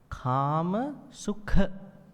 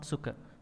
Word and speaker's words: Kāmasukha: So here, Kāmasukha, not Sukha, Sukha.